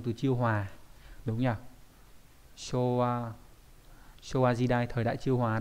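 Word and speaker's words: 昭和: Showa Jidai, thời đại chiêu hòa đấy. Cũng đọc là show đúng không các bạn? Đấy. Showa Jidai.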